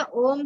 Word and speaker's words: ओम: ठीक है, मैं दिख रही हूँ, तो ये होगा, तो तुम्हारा ये हो गया हमारा ये, और उच्चारण क्या होगा? ओ, क्या खींचना है? लंबा खींचना है ओम को, है ना।